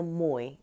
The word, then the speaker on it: Moye: absolutely set it correctly Melina Moy it rhymes with boy yeah but what has